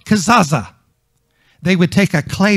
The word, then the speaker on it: Kezazah: It's K-E-Z-A-Z-A-H. K-E-Z-A-Z-A-H. Kezazah. Some may pronounce it Kezazah.